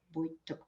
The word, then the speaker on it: Woytuk: I pronounce it Woytuk, probably very German.